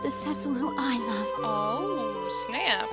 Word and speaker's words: Cecil: been pronouncing everything wrong isn't it sessile not ccq Rosa but I know